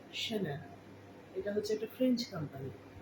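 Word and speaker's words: Chanel: এটা হচ্ছে শ্যানেল। শ্যানেল, এটাকে কেউ চ্যানেল বা চ্যানেল বলবে না, শ্যানেল।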